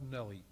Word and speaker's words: Nuelle: The last name is spelled Nelly, N-U-E-L-L-E.